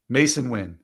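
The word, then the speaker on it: Masyn Winn: pop so you'll stay away from John Singleton masui win is that how you say it Mason winon Mason win the short stop for the um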